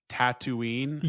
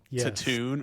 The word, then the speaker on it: Tatooine: I mispronounced Tatooine as like Taton or something and Mayo posted it on threads and everybody made fun of me.